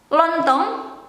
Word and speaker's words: lontong: The Indonesian lontong is rice cake. I don't know how to explain that because in Dutch, I think they use the same, but they pronounce it different. Lontong. In Indonesia, lontong.